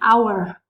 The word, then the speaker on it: hour: So, for instance, the word an hour. The letter H is a consonant, but we don't pronounce it in this specific word. In the word hour, the letter H is silent.